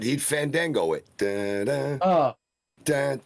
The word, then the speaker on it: Fandango: It's Fandango.